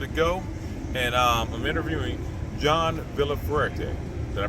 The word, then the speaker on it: Villafuerte: a little bit ago, and I'm interviewing John Villafuerte. Did I pronounce that right, John?